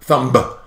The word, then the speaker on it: thumb: You can't hear the B of thumb. Thumb.